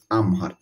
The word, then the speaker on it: আমহার: দিলা তিউ সে আমহার এটার উচ্চারণটা কিন্তু হবে আমহার দসর জনম দশর মানে